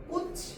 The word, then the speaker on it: 꽃이: 자, 그런데 꽃이 이렇게 발음하게 되면은 이 치읓이 그대로 올라가가지고 발음이 됩니다.